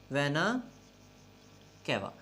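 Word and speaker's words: venae cavae: अब pronunciation almost इसकी भी ऐसी ही है, ए ई का फर्क है, ये प्लूरल है और ये वेना कैवा, ये सिंगुलर है। और ये वेना कैवा जब हम बोलते हैं वेना कैवे तो ये प्लूरल है।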